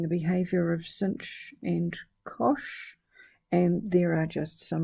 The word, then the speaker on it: cosh: or shine we have hyperbolic cosine which is pronounced sensibly enough cosh we talked about hyperbolic tangent and that rhymes